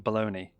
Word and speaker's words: Bologna: Bologna, right. Don't the Americans pronounce that baloney?